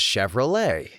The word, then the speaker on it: Chevrolet: interesting discoveries such as Chevrolet. The ch is apparently pronounced more like a shh, so I was saying chvy with a hard ch similar to saying chicken.